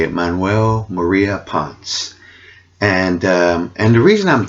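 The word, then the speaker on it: Manuel María Ponce: maria ponce okay that's how you say it manuel maria ponce and and the reason i'm thinking that this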